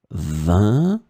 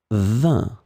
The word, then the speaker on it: vingt: So as you can see in that case, it's the number and it's pronounced the same way. 20, 20.